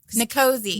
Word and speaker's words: NCOSE: NCOSE. NCOSE, okay. I'm going to start doing that cuz trying to do the whole thing every time is really throwing me off. So, what does volunteering with NCOSE look like?